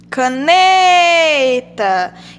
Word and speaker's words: caneta: Vamos ver qual a sílaba tônica de caneta. Caneta. Então, a sílaba tônica é o né.